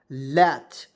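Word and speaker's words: latch: तो यहां पे पढ़ेंगे एल ए टी सी एच लच तो एल से होता है ल और ए आ है तो उसको चरा ए के रूप में टी को साइलेंट सी एच से च तो क्या पढ़ेंगे लच और लट मीस क्या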